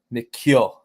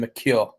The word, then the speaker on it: McHugh: Oh gosh, I don't want to mess it up, but it's like um an Irish version of Mchugh. So Miku is how you say it. Grayson Miku.